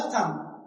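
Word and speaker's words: thumb: थंब। थंब नहीं बोलना है। थंब नहीं बोलना है। इसे क्या बोलना है? थंब। थंब। देखिए देखो एम के बाद बी आया है तो बी क्या है? साइलेंट है।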